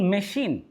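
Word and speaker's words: machine: আবার দেখুন মেশিন, এই শব্দটিতে সিএইচ রয়েছে, তবে এই সিএইচ উচ্চারণ ছয়ের মতোও নয় আবার ক্ষয়ের মতোও নয়, এটা উচ্চারণ হচ্ছে তালব্য স্বর মতো।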